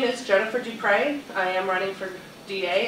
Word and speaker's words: Dupré: my name is jennifer d Pryde I am running for da it's easy to remember it rhymes for da so remember that